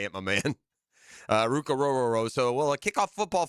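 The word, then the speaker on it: Ruke Orhorhoro: Not Ruke, not Rukiki, not in the last night.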